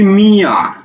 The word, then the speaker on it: মিয়া: বলছি কি মিয়া, মিয়া, এই মিয়া শব্দের উচ্চারণটা কি? একটা হলো মি আর একটা হলো আ, মিয়া, এরকম না? অক্ষর দুইটা না? দুইটা। তাহলে লিখে ফেলি মি, এই যে অন্তস্থ আকারে আ, মিয়া, অন্তস্থ আকারে আ, মিয়া, উচ্চারণ হচ্ছে এটা।